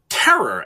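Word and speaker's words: Pterror: So it is often localized as terror, as with a silent P, P-T-E-R-R-O-R.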